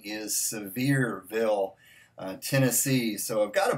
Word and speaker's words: Sevierville: wrong all this time I've been calling it C verville but I was corrected and I believe the correct pronunciation is Sevierville Tennessee so I've got a barbecue sauce from